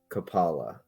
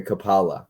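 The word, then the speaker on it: Coppola: into um Capa okay kapala kapala I think is how he's saying it kapala Francis Ford Copa is how I say it Copa is correct that's how I pronounce it and he says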